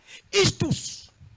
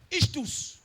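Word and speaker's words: Ichthus: Na mot grec poisson et outil na mot moko ba prononcer on a habité so ba prononcer ngo bongo. Istus. Istus.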